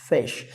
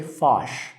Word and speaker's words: fish: Fish.